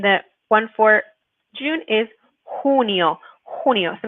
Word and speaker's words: junio: El 20 de, and the one for June is junio. Junio. So make sure when you're pronouncing this one, junio, that you're saying the h sound.